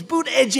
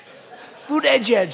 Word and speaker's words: Buttigieg: I think -- I think it was Buttigieg. (laughter) Buttigieg. They said, "Think of it as 'boot' and then 'edge-edge.'"